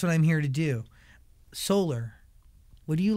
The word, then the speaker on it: Solar: Solar. 이상한가요, 그게? Solar. Like- 한국말로는 솔라잖아요. Like 네. solar, 네, lunar, the sun. solar. Solar. Solar? Yeah, I say It's fine. I said solar.